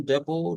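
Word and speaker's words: depot: From the union डेपो टू the court house, ये डेपो है बेटा, इस पे टी साइलेंट होता है।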